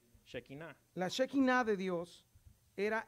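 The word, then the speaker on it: שכינה: Shekinah.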